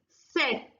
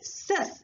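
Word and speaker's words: 셋: But I written ses. But I am pronouncing as set. I wrote ses. But I am pronouncing set. This is one more concept. If any syllable ends with sa sound, we have to pronounce with ta sound.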